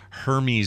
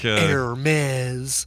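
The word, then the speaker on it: Hermès: It's pronounced Hermes. Is it Hermes? Spoon. It's not Hermes. I want it to be Hermes. It's not Hermes. No, it's Hermes. Even though that spells Hermes? Even though it's spelled Hermes, yeah. Oh, English mixed with other old languages.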